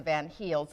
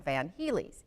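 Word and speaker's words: van Hiele: team known as the van heels or depending upon your pronunciation sometimes people will call it the van heelys either one is correct and what they found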